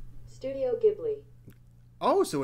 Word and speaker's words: Ghibli: hard studio ghibli oh so it's a hard g so i've been saying